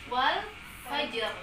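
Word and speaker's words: والفجر: Di situ qalqalahnya di huruf ya, huruf ja. Huruf ja termasuk di huruf qalqalah. Jadi bacanya wal fajr. Fajr. Jadi si ja-nya itu kita qalqalahkan, kita getarkan keluar.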